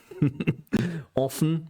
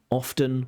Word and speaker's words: often: Now there is a a bit of a debate about whether you should pronounce often with a t or without a t.